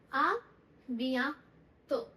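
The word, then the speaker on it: à bientôt: आ बिया बिया तो, आ बिया तो।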